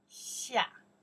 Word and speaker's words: 下: Okay, pronounce down here. Xia, yes.